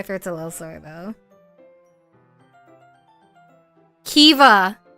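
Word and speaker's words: Caoimhe: a little sore though Kea you know how this is spelled what the okay Kea meaning gentle it's spelled c a o i m h e this is how it's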